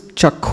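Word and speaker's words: chakṣu: So in Guru Puja, should we use chakhu or chakshu? Chakshudan dilo. Since Bengalis may say it as chakhu. Yes. So technically, a Bengali song we should pronounce like Bengalis.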